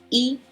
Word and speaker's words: y: use the word and which in Spanish is pronounced e e that's very simple if it's on the